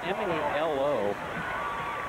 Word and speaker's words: Melo: again quarterback keeper by mallow and he Dives forward his name is spelled m-e-l-o uh he ain't out for here Bob schoonover saying that mallow could be Melo I've heard it both ways on the high really